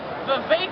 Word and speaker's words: Vivek: Vivek. Rhymes with steak.